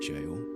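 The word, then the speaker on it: Gaol: That doesn't say infinite jail. that says infinite g. Well, in the old English language, uh that word is actually pronounced the same as jail because jail in English.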